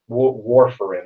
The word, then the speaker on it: warfarin: of the rat poison warfarin that's how it's pronounced according to this on the on a Wikipedia page Worf like Lieutenant Commander have the enterprise yeah